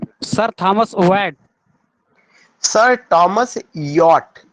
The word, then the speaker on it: Wyatt: Sir Thomas Yacht. We have to pronounce yacht. W-Y-A-T-T.